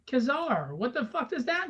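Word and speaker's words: Ka-Zar: Kazar, see, yeah, see, it's Kazar. Kazar, see, you don't know how to pronounce it, see, it's not Kingzar, it's Kazar, see.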